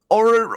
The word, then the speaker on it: orrery: Orrery? Orrery.